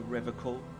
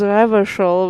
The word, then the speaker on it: Revachol: He pronounces Revachol with a hard K, unlike other people. Serious question time. This man is no innocent. No one is. You said Revachol? I like to pronounce it the hard way, the old way, the Vespertine way, he nods solemnly.